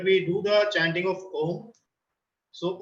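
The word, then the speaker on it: ॐ: Second meditation is Nad Anusandhan, where we do the chanting of Om. So Om is made up of 3 syllables, where A, U and Ma.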